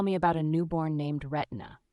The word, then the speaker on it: Retina: about a newborn named Retina, pronounced to rhyme with Christina.